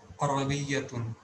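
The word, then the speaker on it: عربيةٌ: Here we have an example of Arabiyatun. Now, in this example, there are two ya, but we have eliminated the repetitive usage and we have used it once only and put shadda on ya.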